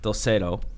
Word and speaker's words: Dulcedo: So what Sunday Creative did when you sold to Dulcedo? Am I pronouncing that correctly?